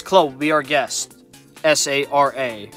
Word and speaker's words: Sara: S-A-R-A. Yes, that's how I pronounce the name, Sara. You guys may pronounce her Sarah, but you know, that's how I pronounce it.